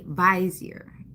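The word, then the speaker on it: vizier: But upon further inspection, he's also a visier. B I Zer. That's how that's pronounced.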